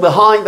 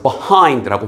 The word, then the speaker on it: behind: 근데 엑센트가 이음절에 오다 보니까 우리 귀에는 어떻게 많이 들리냐면 behind하인드가 아니라 브엑센트를 주니까 앞에가 발음이 약화되는 거서 behind라고 많이 들릴 겁니다.